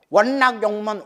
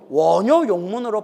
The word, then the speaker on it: 원요욕문: 원락 용문 원락 용무 원락 용무 원낙에 말이야. 원락 원락하니까 발음이 이상하다는 거야. 그래서 뭘로 바꿨다? 원요 욕문으로 바꿨다. 그래서 뜻은 즐겁게 듣고자 하옵니다라고 번역하지만 발음은 뭐라고 발음한다? 요라고 발음한다.